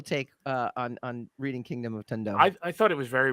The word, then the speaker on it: Tundo: It's pronounced Tundo.